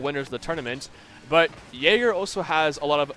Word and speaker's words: Jagrr: Uh, Hope is actually a GC1 and twos and uh I'm going to keep calling him Jagger even though I know it's pronounced Jerger. Uh Jerger is a champ two in uh two now.